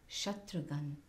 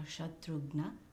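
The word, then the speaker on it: Shatrughna: of prabhu sri rama Shatrughan or shatrugna as we will pronounce it the dispeller of enemies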